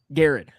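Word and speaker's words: Garrard: Gared. Gared County. You got to say it like you got some molasses in your mouth when you're talking about about uh Garrett County.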